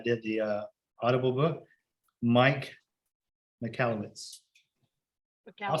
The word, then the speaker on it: Michalowicz: Mike McAllowitz. I'll spell that.